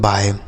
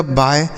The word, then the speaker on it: bye: तो इसे पढ़ा जाता है दोस्तों बाय। बी से हो गया बा और YE का उच्चारण आय, तो इसे पढ़ा जाएगा बाय।